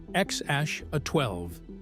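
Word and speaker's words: X Æ A-12: Musk explained that the name was pronounced X Ash A-12. He clarified that while the idea of the name came mostly from Grimes, the X represents the letter, the E is pronounced Ash, and A-12 was his contribution.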